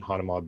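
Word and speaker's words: Hanauma: First morning there, we go to the beach, Hanuma Bay. Some people pronounce it Hanama Bay, and my And who dad and and I.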